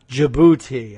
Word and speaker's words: Djibouti: Michael for telling me the D is silent so it's just Djibouti I guess and and